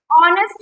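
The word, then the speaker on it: honest: ऑनेस्ट man word क्या दे रखा है? ऑनेस्ट मैन। उसके लिए क्या आर्टिकल यूज़ करेंगे हम? एन। क्यों करेंगे? क्योंकि एच मैंने बताया था साइलेंट है।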